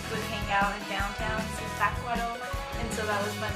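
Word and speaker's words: Zitácuaro: to Zitacuaro, or like as they call it, Zitacuaro. I couldn't get the pronunciation right the first day. I was like, the C goes first or the T? I don't know. And she would say Zitacuaro a lot.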